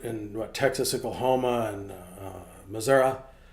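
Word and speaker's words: Missouri: what Texas Oklahoma and Missoura this is the proper way to say it by the way um all these tornadoes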